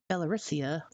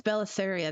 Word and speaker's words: Belisaria: You can't do that kind of stuff in the posh parts like Belarusia, whatever, Belly, however you pronounce it. Oh, Wilson. Yes, Belisaria, that's it.